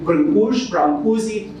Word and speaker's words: Brâncuși: we named after the greatest Romanian artist, Constantin Brâncuși, as is pronounced in English.